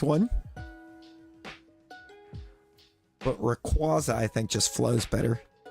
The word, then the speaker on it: Rayquaza: the correct one but Rayquaza I think just flows better like qu I mean yeah I said qu or Quay is the correct pronunciation for the middle but I just like